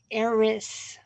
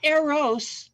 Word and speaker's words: Eris: What we have going on is there is an asteroid called Eris, not Eros, the love god, Eris, sower of discord.